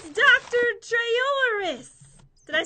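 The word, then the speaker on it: Trayaurus: run super fast anti Bob cool it's Dr trolis did I say his name right that's the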